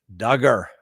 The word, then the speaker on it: Duggar: to represent people like duggar rhymes with hugger who i bet is